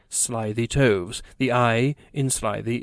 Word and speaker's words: slithy: that has often been asked me how to pronounce slithy toves the i in slythe is long as